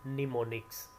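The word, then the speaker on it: mnemonic: था कहा जाता है निमोनिक्स एम एन ई एम ओ एन आई सी यह इसके स्पेलिंग है शुरू का एम साइलेंट है इसको प्रोनाउंस किया जाता है निमोनिक और यह निमोनिक में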